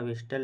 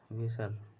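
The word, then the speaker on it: whistle: और दूसरा टी है इसको लिखा है विस्टल लेकिन पढ़ा जाता है वि विसल यह होता है तो इसलिए जो ऑप्शन बी है वह करेक्ट होगा क्योंकि एच और टी दोनों साइलेंट होंगे अगला क्वेश्चन 38 है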